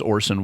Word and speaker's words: Orson: Instead of saying Orson, he keeps saying Orson. Right. It's like, no, that is an S, not a Z sound. It's Orson Welles, not Orson Welles.